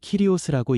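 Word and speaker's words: κύριος: 여기서 주라는 말은 헬라어로 키리오스라고 읽습니다.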